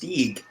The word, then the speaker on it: Stig: It's actually it's actually pronounced Stieg.